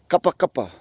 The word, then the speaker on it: kapakapa: pot cuppa cuppa well if you put if you take one of those copper and you never say the word supper let's replace this with a cake and you've got copper and you say there twice cuppa cuppa just like saying supper toys supper supper just